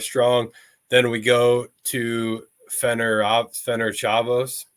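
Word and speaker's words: Ferencváros: Then we go to Fener Chavos, I believe is the pronunciation there.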